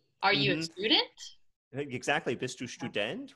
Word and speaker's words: Student: And notice the German ST at the beginning of a word or the beginning of a syllable is st. St, like a right, st. Right, so student.